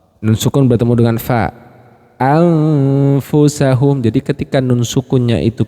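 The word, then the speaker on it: أَنْفُسَهُمْ: Anfusahum.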